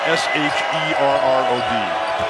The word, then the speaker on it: Sherrod: How do you pronounce S-H-E-R-R-O-D?